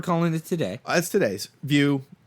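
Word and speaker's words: Vue: Playstation view is pronounced it's pronounced view like v i ew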